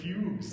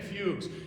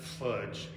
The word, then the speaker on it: fugue: the thing with romantic fugues you all know what a fugue is it's an it's not fudge with a hard g it's um a fugue